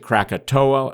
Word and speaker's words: Krakatau: it's Anak Krakatau, and some people pronounce it Krakatoa. It was used to be spelled with an O. Now it's spelled with a U, Krakatoa. And based on some of the South Pacific pronunciations, that may be closer to the correct one.